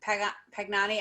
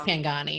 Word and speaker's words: Pangani: the same with the pugnani i was i feel like i always pronounce it i think it's pangani um but the animals